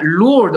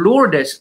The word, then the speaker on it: Lourdes: Now, Lourdes, or Lourdes, as it is pronounced in the Philippines, is a girl's name because they are Christian.